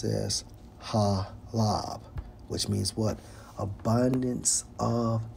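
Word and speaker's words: חָלָב: for milk Strong's H TWA Strong's H 2461 pronounce as halab which means what abundance of the land okay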